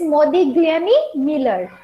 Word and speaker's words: Modigliani-Miller: so we'll understand it better so this this pronunciation is Modi gami Miller in short it is also known as mm